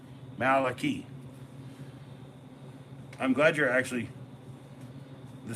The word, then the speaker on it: Malachi: Malachi, like Key, key, CHY. See, like a CH can make a key, right? And Y can be E, Malachi.